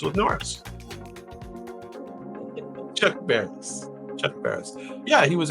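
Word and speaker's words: Barris: Chuck rhymes with Norris. Chuck Bareris.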